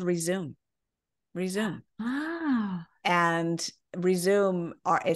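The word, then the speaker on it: Rezoom: Resume. And Resume, we spell it R-E-Z-O-O-M because you want to... zoom back fast.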